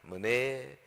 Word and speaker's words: 메네: 그 히브리어 성경에 보면요, 이 메네가 발음은 머네입니다. 머네 테켈, 우는 엔더, 그리고 파르신 그래요.